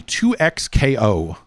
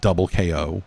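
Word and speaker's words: 2XKO: you played any any 2x KO?" I guess that is the right way to pronounce it. It is not double KO, which would have been a more fun name.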